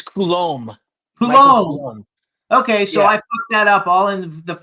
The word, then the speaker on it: Coulumbe: is it okay kbe how do you pronounce it oh it's Kul K okay so I [